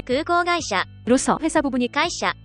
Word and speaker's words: 空港: 발음은 각각 空港、航空、 입니다.